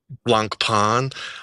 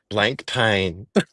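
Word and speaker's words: Blancpain: And how are you supposed to pronounce that? It is blank pan.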